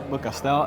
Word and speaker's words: Beaucastel: from Famille Perrin and Chateau, how will you pronounce that? Chateau de Beaucastel. Beaucastel. Yeah, absolutely. Got it. Can you tell us a little bit about the history behind Chateau de Beaucastel and your family heritage?